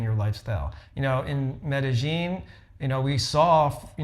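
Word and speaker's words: Medellín: We went to Medi, you know, Medigene, and that's how the locals say it.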